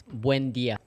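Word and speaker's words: Buen día: It's Buen dia. Buen dia todos.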